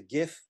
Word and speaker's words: GIF: about gif you know I know some of you pronounce it jiff which isn't really correct because the first word is graphic it's a gif I know you're used